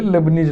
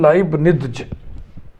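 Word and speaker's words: Leibniz: differentiable जो होता है लेकिन उच्चारण में सुविधा के लिए लेबनीज लेबनीज बोलते हैं इसको सही प्रोनंसिएशन है लाइब निजज लिख दो हिंदी में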